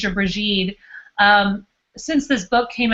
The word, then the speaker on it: Brigid: think that the best place to start with bridgid is starting with her name and um snar was pronouncing it correctly in and calling her brege or bried um since this book came out I've been